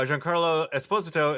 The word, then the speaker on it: Giancarlo Esposito: learned how to say his name correctly uh giancarlo esposito is uh to play doctor doom in the